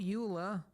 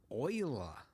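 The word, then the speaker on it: Euler: shift a utilities rotation rotate not Ula Oiler yes I know they went with the weird pronounciation I think it was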